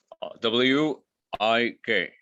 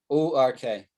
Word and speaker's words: work: Pronounce that word. WIK. No, WORK. Quirk.